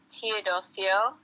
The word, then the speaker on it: Teodosio: So, my name is Teodosio and that's spelled A M I T E O D O S I O. And I just use um my full name Toddio for my business name.